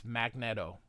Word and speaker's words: Magneto: really should be Magneto it's magnet and an O not double e so it shouldn't be magne see one e so it's magnetto that is but you